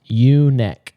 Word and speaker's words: Junek: clarification before we filmed this today that it's Junek, like Junek. So Junek Farms finally have the right pronunciation.